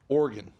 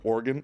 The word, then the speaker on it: Oregon: met some people from Oregon and they get really upset when you call Oregon Oregon so I say it like an organ like an internal organ the same way like